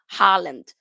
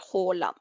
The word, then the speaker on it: Haaland: that he doesn't mind people were saying Holland but here in Norway we say hola hola ER the God